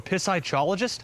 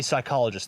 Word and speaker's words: psychologist: immigrants to learn English what are you a pissyologist that would be psychologist the P at the start is silent okay can we take a